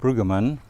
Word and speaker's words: Bruggemann: So if we could start first by just having you say your name and spell it for us. My name is Ludwig Bruggemann.